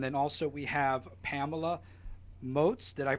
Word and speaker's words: Moats: And then also we have Pamela Moes. Did I pronounce that correctly?